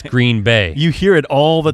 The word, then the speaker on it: Green Bay: the way it's not green bay it's green bay you hear it all the green yeah bay emphasis on the bay i don't know why